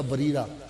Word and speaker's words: بریرہ: لکھتے ہیں کتابوں میں، لکھا اصل تلفظ اس کا بریرہ رضی اللہ تعالیٰ عنہ۔